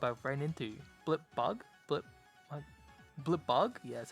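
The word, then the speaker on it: Blipbug: Blip bug?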